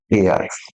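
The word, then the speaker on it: heir: जाएगा अ हेयर लेकिन एच ई आई R this इ कॉल्ड एर दिस इ एयर का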